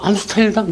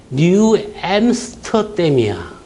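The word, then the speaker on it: New Amsterdam: 그래서 암스테르담, 뉴 암스테르담 막 몰라. 그랬더만 하더만 지가 뭐라는 줄 아세요? 뉴 엠스터댐이야.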